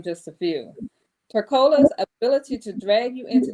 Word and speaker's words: Tercola: So Tercola, did I pronounce that correctly? Yes, Tercola.